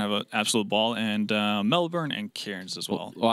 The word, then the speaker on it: Melbourne: It was like you don't call it Melbourne, you call it Melbourne. Melbourne. They don't even know what Melbourne is. That is actually true. Yeah, that is actually true. Only people outside of Australia pronounce the full, like the actual letters of that city.